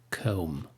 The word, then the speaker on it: comb: as the known comb comb the B is not pronounced in this word the same thing with